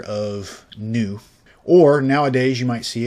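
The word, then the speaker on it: ν: This is the original form was E equals H in what we would say V, but it's actually the lowercase Greek letter of nu.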